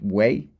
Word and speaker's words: güey: And it's pronounced way with a W kind of sound.